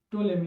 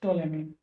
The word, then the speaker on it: Ptolemy: Geocentric theory was given by Claudius Ptolemy in 2nd century. See here. Claudius Ptolemy. He gave Ptolemy, here P is silent. Claudius Ptolemy.